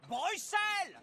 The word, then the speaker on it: Bruxelles: Et on prononce Bruxelles! Cette histoire de X, ça porte à confusion.